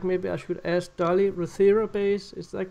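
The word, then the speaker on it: Rothera: this is a I don't know if I'm pronouncing it correct maybe I should ask Dolly Rther base is that correct?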